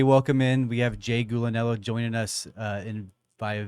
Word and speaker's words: Gulinello: your name correctly Jay gulinello yeah yeah there there's a big family battle as to how it should be pronounced it's either gulan or it's galanello and so either of those works fine gotta um so I